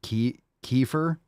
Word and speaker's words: kefir: feel like it's great you pronounce it Kiefer it doesn't really matter kefir Kiefer it doesn't matter you can pronounce it any way you want I suppose people pronounce all sorts of ways I don't think there's a right way anymore I hear so many people pronounce it I tend to say kefir I don't like Kiefer Kiefer yeah I don't